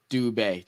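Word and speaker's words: Dube: to do something uh he's not pronounced dub he's pronounced du dub du du makes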